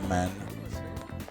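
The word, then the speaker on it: มาร: In Thai, it's actually pronounced man.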